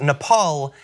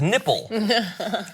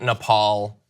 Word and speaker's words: Nepal: of the region and he pronounced Nepal as nipple and he had to be told not to call it nipple he also pronounced Bhutan